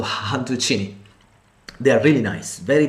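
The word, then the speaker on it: cantuccini: han tuccini hunted cine the people from tuscany according to their dialect they don't um pronounce the c as c by s h so honducini they are really nice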